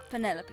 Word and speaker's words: Penelope: Is that short for Penelope? Officially, yes. But I never can be bothered with all four syllables of it. Penelope sounds a little ostentatious coming out of the mouth, don't you think?